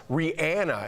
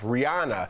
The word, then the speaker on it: Rihanna: It's pronounced Rihanna, and we've all been saying, well, at least I have, Rihanna.